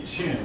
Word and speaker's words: Qin: dynasty that did exist the Qin Dynasty known anyone knows Chinese in English just does not look like a chin but this is a